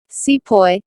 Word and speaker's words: sepoy: Sepoy, this is how the British pronounced the word sipahi, meaning an Indian soldier in the service of the British.